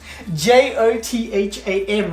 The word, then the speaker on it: Jotham: spell my name correctly j-o-t-h-a-m is how you spell it say we love jotham like gotham city with a j my brother's like move